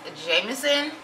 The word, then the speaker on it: JMSN: you'll think it's jmsn but if you don't know how to pronounce it it is jameson and i'm super excited